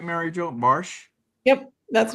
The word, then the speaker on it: Barsh: Am I pronouncing that right, Mary Jo Barsh?